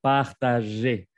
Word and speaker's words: partager: Bueno, de hecho, no solamente los hispanohablantes, que van a pronunciar la R aquí, pero no se pronuncia. Vamos a decir partager. Los verbos que terminan en ER se pronuncia E al final.